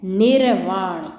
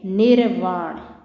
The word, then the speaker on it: निर्वाण: अगला देखो भाई, एक है निर्वाण। जिस भी शब्द के ऊपर रे लगा होता है वो पहले बोला जाता है। ये क्या है? निर्वाण। क्या है ये? निर्वाण।